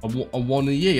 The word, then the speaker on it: Awoniyi: Awoniyi.